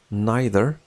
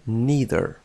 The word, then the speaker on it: neither: هذه الكلمة neither تنطق بطريقتين, neither أو neither.